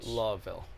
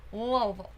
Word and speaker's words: Louisville: not been to church law ville louisville that's how you say it louisville kentucky i